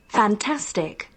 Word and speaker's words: fantastic: up in a dictionary fantastic with the stress on T fantastic fantastic fantastic it means